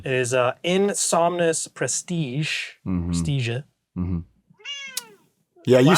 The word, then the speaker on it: Praestigiae: Praestigiae. Mm-hmm. Yeah, you said it right. So she knows how to pronounce it.